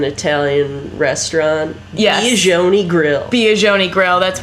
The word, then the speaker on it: Biagioni: I think because and she said it rhymes with pepperoni.